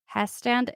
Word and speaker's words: Hestand: So Abbott Rick Abbott, who's 23, is, like, patrolling the museum while his coworker, Randy Heston Hestand? It's spelled he stand, so Hestand, I'm going with he maybe? stand.